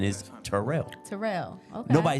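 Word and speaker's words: Terrell: nobody says that nobody says that I'm from turl but the proper pronunciation is Terell Terell okay nobody says that so yeah it's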